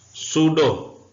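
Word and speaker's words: pseudo: बीमारी का नाम है इसमें पी साइलेंट है सूडो पी साइलेंट है इसका मतलब होता है दगा बास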